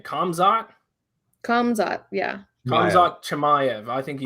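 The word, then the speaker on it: Khamzat: How do you pronounce his first name? Kamzat? Kamzat, yeah.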